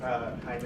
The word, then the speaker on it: Jaime: It's spelled like baby, but it's pronounced Jaime in Spanish.